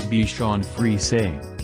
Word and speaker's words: Bichon Frise: The Bichon Frise, pronounced Bichon Frise, the plural is Bichons